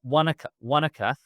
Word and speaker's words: Wanaka: Well, Wanaka is actually that because Ngāi Tahu don't pronounce so the NGs become Ks. So what Wanaka in the dialect that's used in Te Reo Māori across the rest of the country would actually be Wananga.